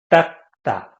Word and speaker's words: 닦다: So this 닦다, people usually pronounce it as like 닦다, like double G.